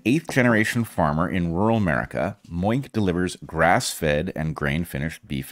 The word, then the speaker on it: Moink: Heather, this will come as no surprise to you, but our final sponsor this week is Moink. Mm-hmm. That's Moo plus oink.